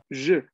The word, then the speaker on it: je: Alors, attention, le pronom, c'est je. Je, non? Con la E muy, muy cerrada.